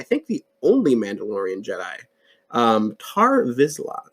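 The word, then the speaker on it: Tarre Vizsla: No, it was a lightsaber basically made by the first Mandalorian, and I think the only Mandalorian Jedi, Tar Vizsla, I believe is how you say his name.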